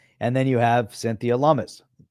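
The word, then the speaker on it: Lummis: And then you have Cynthia Lumis, rhymes with hummus.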